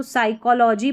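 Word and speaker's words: psychology: A young boy tried to read a, अब जब भी ये स्पेलिंग में शुरू में PS रहता है तो P साइलेंट रहता है, तो इसको साइकोलॉजी पढ़ेंगे, P साइकोलॉजी नहीं, साइकोलॉजी।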